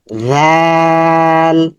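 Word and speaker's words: ذال: এটার নাম হচ্ছে জাল জাল জাল জালের মাখরাজ হচ্ছে যেহবার আগা সামনের উপরে দাঁতের আগা যেহবার আগা সামনের উপরে দাঁতের আঘাতে স্পর্শ হবে এবং নরম সাউন্ড হবে নরম পাতলা সাউন্ড হবে একই আকৃতিতে দুটি হরফ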